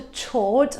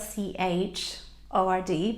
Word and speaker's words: chord: And it's not a chord. I know it's spelled C-H-O-R-D, but we don't say chord, we say chord.